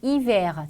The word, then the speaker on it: hiver: 단어 끝에 위치하는 R는 발음이 되기도 하고 안 되기도 합니다. 그래서 발음이 되는 경우를 체크해 주면 되겠네요. 1번 dîner, 2번 hiver, 자 발음이 되죠. 답은 나왔고 3번 cahier, 4번 janvier, 5번 étranger, 발음되지 않습니다.